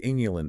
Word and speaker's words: inulin: The artichoke is densely packed with a unique, soluble prebiotic fiber called inulin. Inulin, spelled with an I, just to be totally clear, not insulin.